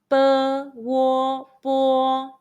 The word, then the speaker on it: bo: When the English letter O in Pinyin is following the initial B, P, M, F, it stands for the final Wo.